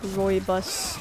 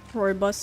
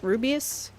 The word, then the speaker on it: Rooibos: Like, I remember mispronouncing it for like a few weeks when I moved here and I got exposed to it. I was like, Rubius? Robus? I want some Rubius.